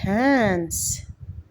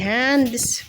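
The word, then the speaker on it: hands: اسمك نمبر 3 شيك هانس هانس هانس هانس ماحدش يقوللي هاندس ما بتتنطقش كده بتتنطق هانس عشان الدي سايلنت هنا بقى هنرتب هنا مسهلها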